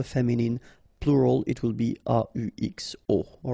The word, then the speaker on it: aux: then a plus les will become au, aux, but then remember that phonetically it's o.